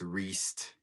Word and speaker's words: Riest: think I'm just Thomas Riest, which is like priest without the P. That's the best way to remember it because the pronunciation and the spelling is exactly the same.